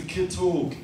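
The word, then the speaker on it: ciotóg: he's he's left-handed and that's how you say it irish it's a kit hog i mean originally in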